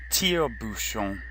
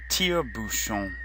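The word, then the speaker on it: tire-bouchon: repeat after me Bhushan Bhushan shown TL Bhushan teo Bhushan teo Bhushan this phrase fo Lou Boucher is the same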